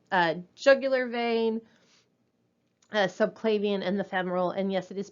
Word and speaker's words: femoral: So the non-tunnel central lines and the tunneled central lines, the internal jugular vein, subclavian, and the femoral. And yes, it is pronounced femoral, not femoral.